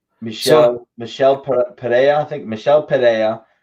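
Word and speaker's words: Michel Pereira: you know Mikkel Michele Michele today I think Michele Padilla it's how you pronounce his name he basically he basically was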